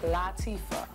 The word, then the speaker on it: Latifah: This is Queen, catch it, Latifah. Many people mispronounce this name.